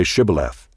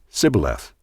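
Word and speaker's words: Shibboleth: they said to him then say shth and he said Sith for he could not pronounce it right then they seized him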